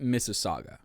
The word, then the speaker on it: Mississauga: was trying to say but he's like Miss missus saves miss AAG what what that's pronounced Mississauga it's a city that's